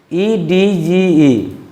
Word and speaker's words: edge: Edge, it will be pronunciated as. Here also D has no sound.